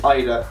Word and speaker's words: Haider: But anyway, for the first piece we have this long sleeve Bordeaux t-shirt from Haider Ackermann. Haider as well, another correction, supposedly the H is silent.